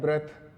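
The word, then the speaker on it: breath: इसकी प्रोनाउंसिएशन क्या है, ब्रीथ, तो ये है वर्ब। तो ये भी फर्क हो जाता है ऐसा, ये वर्ब है ब्रीथ और ये है ब्रेथ, नाउन।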